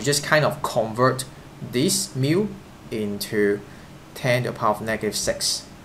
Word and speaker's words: mu: the symbol itself right this symbol uh the pronunciation is mu just like kilogram use you don't say kilo